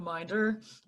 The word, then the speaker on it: Minder: I'm Minder, pronounced with a long I, but everybody does that, so it's okay.